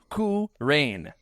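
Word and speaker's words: Qu Rahn: Number two, K Rain. Coup is spelled Qu Rain led Kyle Katarn from beyond as a force ghost and had a very unique lightsaber design.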